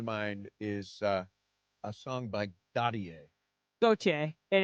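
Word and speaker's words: Gotye: It's pronounced Gautier.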